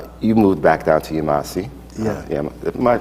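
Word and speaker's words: Yemassee: and so forth, you moved back down to Yemasi. Yeah. Am I pronouncing that right? Yemasi, South Carolina.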